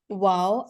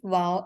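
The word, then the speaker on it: و: But again, waw is going to be pronounced from our oral cavity only when it is going to be madda. Only when we are going to stretch the sounds of the waw.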